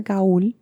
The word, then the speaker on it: Gaul: It rhymes with ball. Gaul? Gaul. No, Gaul. Okay. I agree. How the fuck is that Gaul? I don't understand. Would that not be it's G-A-L-L? That's what I'm saying. So it's spelled G-A-U-L.